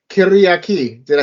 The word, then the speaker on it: Kyriaki: It's by Kyriaki.